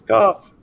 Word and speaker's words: Kopf: Is it Kopf? Is that how you pronounce it? It is Kopf.